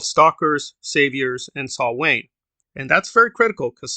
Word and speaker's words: Samhain: They use Samhain or Samhain. That's not how you say it. It's supposed to be Saul Wayne.